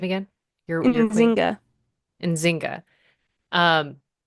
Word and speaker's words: Nzinga: Your queen, Nzinga.